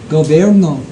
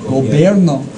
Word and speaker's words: Gobierno: Gobierno. Gobierno. Is it literally a B? It is. Gobierno.